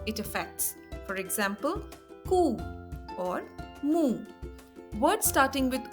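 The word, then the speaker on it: ओ: Words starting with I are ainak, that is glasses, or ashwarya, that is prosperity. Then we come to O. O is pronounced as O as in the word go or so.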